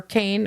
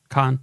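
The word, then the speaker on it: Caan: his death in 2024, starring James Khan or Kane or however you pronounce it, Jessica Walter. Khan, what? Khan.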